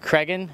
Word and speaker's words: Cragin: busy men in Austin this week uh craan am I pronouncing that right yes that's correct all right